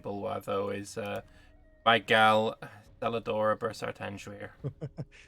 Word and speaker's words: Celadora: Clearly, the only one worthy of worship in Bulwar, though, is my gal Celadora Bursartanjuir. I think you'll find that it's pronounced Celadora.